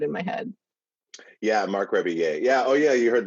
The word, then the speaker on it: Rebillet: McRiblet, it's back, guys. No, it's Rebillet. Rebillet. Oh, that sounds so much fancier than it sounded in my head. Yeah, Marc Rebillet.